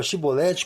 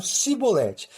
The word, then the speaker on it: Shibolete: E o fato é intrigante, pois os gileaditas pronunciavam a palavra Shibolete com SH, já os efraimitas não conseguiam pronunciar o SH na palavra Shibolete, mas pronunciavam Sibolete, e os identificavam na passagem de acesso para a região efraimita.